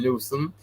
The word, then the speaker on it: Newsom: Well, California is back, under the control of Gavin Newsom. Did I say his name right? Yes. You said it right.